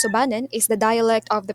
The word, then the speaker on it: Subanon: Subanon pronounced as Sububan is the dialect of the province used mostly by the members of the Subanon tribe.